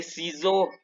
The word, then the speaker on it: ciseaux: Cuando la S está en medio de dos vocales y es una sola S, se pronuncia como una Z, de ciseaux.